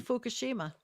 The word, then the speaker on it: Fukushima: Listen, were ice they're moving skating people back to in- Fukushima.